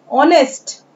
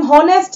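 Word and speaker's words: honest: ऑनेस्ट, ईमानदार। देखिए क्या पढ़ रहे हैं, ध्यान से सुनिए, इसे हम हॉनेस्ट या कैनी नहीं पढ़ेंगे।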